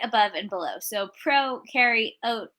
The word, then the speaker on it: prokaryote: above and below so pro carry oat as in you're a pro carrying oatmeal you bacteria eukaryote you